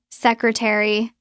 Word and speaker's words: secretary: We often drop the a. It becomes sry. Three syllables. Note. In British English, it might sound even shorter like sea try. In American English, we keep the re sound a bit more distinct, but we still squeeze it.